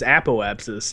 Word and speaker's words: apoapsis: that you guys both know that it is apoapsis and parabs no I just I just never